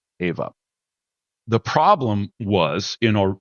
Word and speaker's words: EHVA: EHVA, the name is spelled AVA, is a great name for a lot of reasons.